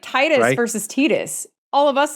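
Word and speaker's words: Tidus: like you're right like most of us in the US would pronounce it Titus now I could see where tetus would make sense for some of us because like again I speak two languages and I is pronounced as e right that's true yeah so I could see that but no it's it's Titus right especially when you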